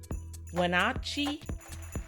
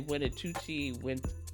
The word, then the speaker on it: Wenatchee: I was about to say Winnetucci, Winchichi. Like, I had all kinds of bad pronunciations in my head.